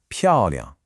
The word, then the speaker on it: 漂亮: Now, the second syllable, liang, is what we call a neutral tone. And this is just as important. It's light, it's unstressed, and it just kind of tacks on to the end of the first syllable. So what you get is a strong falling 漂, followed immediately by a light, quick liang. Putting it all together, it flows just like this.